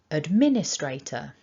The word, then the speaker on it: administrator: got here is that we've got one main stress and it's on the second syllable.